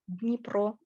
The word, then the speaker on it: Dnipro: So I'm pronouncing that. Yeah, so Dnipro or Dnipropetrovsk.